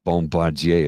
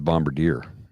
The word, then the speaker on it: Bombardier: It's not a bombardier, it's a bombardier.